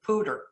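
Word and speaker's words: Poudre: actually comes from um there's a river out in colorado called the pooja river and everybody who lives there pronounces it pooter and i always thought that was really just a funny way of americanizing it and he's a character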